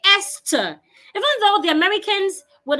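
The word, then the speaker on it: Esther: word is this word the word has th H but when you're pronouncing it you the H is silent you say eser even though the Americans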